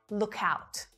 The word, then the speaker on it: look out: So instead of releasing the k after look, we combine it together with the ow vowel sound at the start of out. Look out, look out, look out, look out.